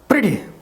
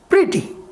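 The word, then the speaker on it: pretty: Number 2 आपने देखा, ये देखिए ई है प्रिटी, क्या पढ़ेंगे इसको, प्रीटी, इसको प्रैटी नहीं पढ़ेंगे, इसका सही प्रोनाउंसिएशन क्या है, प्रिटी। तो यहां पर ये ई जो है वो भी आई का साउंड निकालना है।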